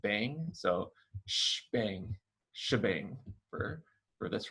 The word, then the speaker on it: shebang: line is called the shebang it's called the shebang because the hashtag is where the sh comes from and the exclamation point is often pronounced bang so bang shebang for this right here